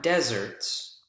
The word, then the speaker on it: deserts: Desserts, not deserts, really dry climate deserts, desserts. Notice the word stress on the second syllable as compared to the word stress here on the first syllable.